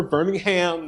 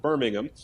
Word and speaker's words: Birmingham: Birmingham Astronomical Society and you might guess by the pronunciation that's in the UK but we're Birmingham not Birmingham uh and and so make